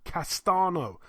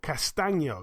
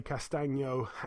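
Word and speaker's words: Castaño: Patrick Texera, 31-1, defends his WBO World Super Welterweight title against Brian Castano, or Castano, it's actually pronounced. 16-0 with a draw, like I say, Castano.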